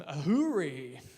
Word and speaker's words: AHURI: Michael Fotheringham from Ahuri. Is that how we pronounce it?